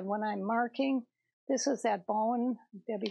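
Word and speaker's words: Bohin: This is that bone.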